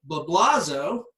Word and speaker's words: Blablazo: uh Stan yam uh blablazo right that's me you said it right uh Robert Elrod and